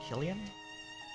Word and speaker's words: Killian: EST to be San Killian what yes it's Irish it's kilan okay as Killian and